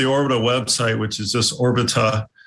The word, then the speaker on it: Orbita: You can also go to the Orbita website, which is just Orbita. It's like orbital without the L.